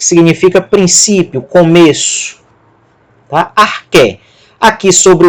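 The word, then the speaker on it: ἀρχή: O alfa vai ser pronunciado como A. Alfa, ro, ar. O que com eta, o que tem som de K aspirado, K, e o eta tem som de E. Arque, arque, que significa princípio, começo.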